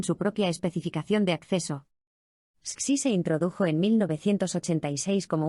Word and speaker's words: SCSI: El SCSI, pronunciado SCSI, Small Computer System Interface,